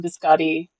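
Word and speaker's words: biscotti: Yeah, there's there's a there's a recipe for um biscati. um that's the American pronunciation.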